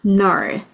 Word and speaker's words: knoll: null K가 발음이 안 나요.